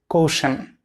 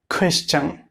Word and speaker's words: question: Some people pronounce it like caution, but the right pronunciation will be question.